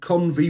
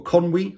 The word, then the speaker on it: Conwy: this one it's from convey Brewery or Conway I think it's pronounced and this is a